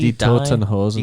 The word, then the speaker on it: Die Toten Hosen: How do you pronounce it? Is it D? Die Totenhosen. Die Die Toten Hosen. Totenhosen. Right.